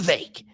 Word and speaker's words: Vivek: bring it back to the vake rhymes with cake I know that because